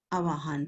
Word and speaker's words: आह्वान: आह्वान होता है, इसमें व भी है साइलेंट, नीचे आधा वो है। आवाहन पढ़ते हैं हम इसको।